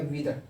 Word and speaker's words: wither: वीदर, इसको WITHER spelling है, इसको प्रोनाउंस करेंगे वीदर। आर को स्लाइटली साइलेंट करके प्रोनाउंस करेंगे।